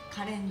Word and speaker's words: 香怜: カレンです。カレンさんって読むのね。カレンって読む。